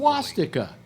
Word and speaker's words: swastika: some guy put a Schwartz sticker in concrete A in his front lawn. A Schwartz sticker? Yeah, A Schwartz sticker? Well, you pronounce it properly. Swastika. All right, swastika.